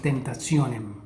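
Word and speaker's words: tentationem: La letra T seguida de I y después una A, E, O U se pronuncia como ts, como por ejemplo en tentacionem, tentacionem.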